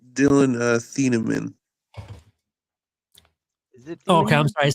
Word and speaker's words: Thieneman: I'm pretty sure it's Dylan Thieneman.